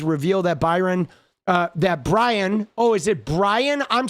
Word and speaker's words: Bryon: I thought it was Byron. It's Brian. My bad, dude. I see. I've even been saying his name wrong, dude. It's Brian. Oh my god, dude. Excuse me while I say his name for like the first half of the video. Pardon me because I am so like like unaware of this dude. It's Brian spelled like Byron like a dyslexic Byron.